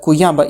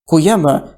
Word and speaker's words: Kuyaba: Kuyaba should be likely read as Guyaba.